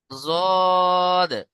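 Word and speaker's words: ضاد: জদ, জদ কোত্থেকে উচ্চারণ হয়?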